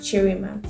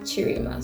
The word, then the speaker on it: Cherima: So, Cherima. So, if you guys have looked at my surname and be like, "How do you say her surname?" Just say it like Cherima.